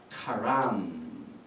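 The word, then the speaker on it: חלום: 히브리 말로 꿈은 카람 이렇게 발음합니다.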